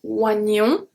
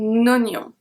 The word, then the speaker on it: oignon: to see today is when OE is pronounced as a O, so a close O. We have un oignon. We have a link here. Un oignon. Oignon. So I don't say un oignon, I say un oignon.